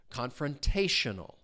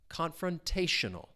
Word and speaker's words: confrontational: The stress is on that third syllable. Confrontational. Confrontational.